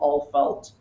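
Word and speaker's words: Alfeld: It's like it's called Alfelt. Um very interesting pronunciation Alfel DT. Yeah. End with a DT.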